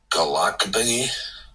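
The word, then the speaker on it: gołąbki: Galakabi.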